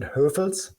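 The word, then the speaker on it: Hövels: Oh yeah, I had quite a few beers, and one was we pronounce it Höfels, and it's from a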